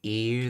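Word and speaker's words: いう: Notice she says yu instead of iu. That's uh something uh done with the word yu or iu where you pronounce it with more of a y than the than the uh e sound iu.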